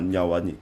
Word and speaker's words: Nwaneri: capacités à faire mal sur son côté de Wanyeri. C'est comme ça qu'on prononce son nom, Nyawani. Ouais, Ok. Nwaneri.